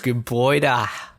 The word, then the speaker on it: Gebäude: Gebäude. You got that really breathy H sound at the end.